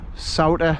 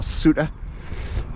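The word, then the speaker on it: Souter: do you see it it's spelled s-o-u-t-e-r salter or suta but on bank holidays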